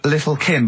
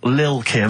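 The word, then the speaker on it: Lil' Kim: Now, Steve, I see there it's a track by Little Kim, but how are you pronouncing it? I'm pronouncing that correctly, Lil Kim. Oh, no T's involved.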